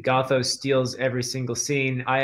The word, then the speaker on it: Gothos: Is that how it's pronounced? That's how I say it. Gothos.